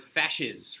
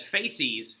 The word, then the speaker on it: fascist: been mispronouncing the word fascist for the wrong the wrong way found this out that i've been mispronouncing that word as faces for the last seven years okay so happens to